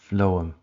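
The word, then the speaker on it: phloem: it contains also the flm flow M this remember f for food although it's spelled with a pH um and then you've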